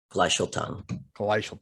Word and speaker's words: Gleichstellung: Gleichstellung.